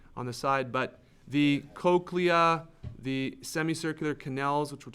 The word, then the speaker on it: cochlea: there the cochlea funny word but it's pronounced cochlea is made up of the bacilluar membrane wound